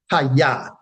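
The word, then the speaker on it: חיה: English as Chayah, and it is pronounced Haya, Haya, Haya, meaning to live, to revive, right?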